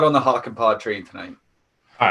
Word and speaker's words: Hakanpää: Yeah, Hakanpää.